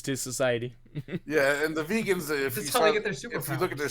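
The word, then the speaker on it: Vagan: to say they were it's spelled v-a-g-a-n but I think in the series they actually call them vegans because we used to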